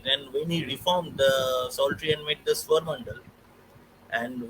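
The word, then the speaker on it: psaltery: Uh, So, when Ghulam Ali Khan Sahab introduced the Surmandal, the auto harp, it's known as the Psaltry, Psaltry, the P is silent.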